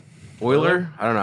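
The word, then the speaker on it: Euler: Oiler.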